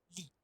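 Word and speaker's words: 立: Que esto se lee Li, que es derecho, parado.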